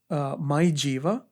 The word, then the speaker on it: MyJeeva: You can download My Jiva. It's spelled as MYJEEVA.